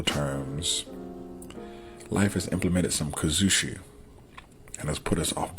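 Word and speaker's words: kuzushi: And those 4 parts are kumikata, kazushi, sakuri, and kake.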